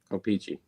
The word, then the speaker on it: O-Pee-Chee: O-Pee-Chee.